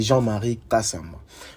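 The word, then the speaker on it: Jean-Marie Kasamba: Et ce monsieur là il s'appelle monsieur Jean-Marie Kassamba, si j'ai bien prononcé son nom et son prénom, mais c'est Jean-Marie Kassamba.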